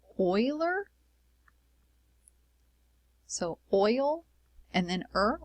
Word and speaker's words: Euler: for it is the Euler number so to pronounce that it's Euler so oil and then a boiler let me